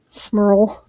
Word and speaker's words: Smurl: Smurl. Yes. Thank you. I was just like, I don't want to get that name wrong.